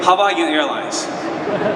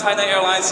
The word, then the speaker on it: Hainan Airlines: And then here people immediately say Hawaiian Airlines. But now I'm pretty sure in San Jose, everyone will know Hainan Airlines. At least pronounce Hainan Airlines in the right way.